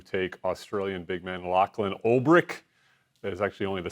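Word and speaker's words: Olbrich: second round to take Australian big man Lachlan Olrich. That is actually only the second time in my life I've pronounced his name correctly, so kudos to me.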